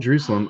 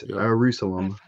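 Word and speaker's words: Ierusalem: Uh we're just going to call it Jerusalem. I know it's spelled with an I. It's Jerusalem.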